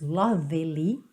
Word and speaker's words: lovely: você também não diz lovely, tá bom? Esse E tá pintadinho de cinza porque não é pronunciado.